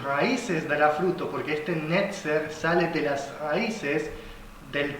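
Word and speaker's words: נצר: Sí, un brote, esta palabra brote, hermanos, en hebreo se pronuncia netzer, netzer.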